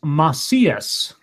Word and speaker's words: Macias: It's pronounced Macias. It's Spanish.